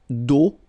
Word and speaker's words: d'eau: And then when you combine these two, these three vowels A, U, you get the sound O. Only O. Okay? Une conduite d'eau potable.